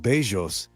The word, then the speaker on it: Bellos: In Spanish, it's pronounced Bellos, which means handsome / good looking.